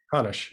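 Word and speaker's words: Hannusch: As a reader, I love music writing, and I read both of Jeff Hanush's books. Did I pronounce his last name correctly? Hanush, yes.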